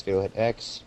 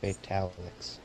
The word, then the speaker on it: Fatal Hit X: He says, "Hey, this is Fatal Hit X, pronounced Fatal Hit X, not Fatalix."